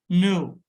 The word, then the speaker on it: know: No, the word no, K-N-O-W. In spelling, in writing, K is written, but in spoken, it's not pronounced.